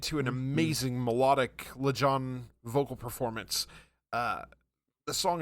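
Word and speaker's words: Lajon: Yeah, LeJohn.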